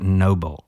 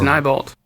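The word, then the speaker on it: Neibolt: It's no, I think I called it Noble Street, but I think it's Nybalt. Is it what? I think it's Nybalt, right?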